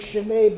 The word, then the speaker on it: Sheena: By the way, a point on pronouncing her name. There we go. I have known her as Sheena all of the time I've known her. She was known as Sheena in prison. She tells me she's been known as Sheena for longer than she was known as Sheena, but Sheena is the way her name is supposed to be pronounced.